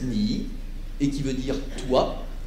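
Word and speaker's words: 你: rajoute ce caractère devant qui se prononce ni et qui veut dire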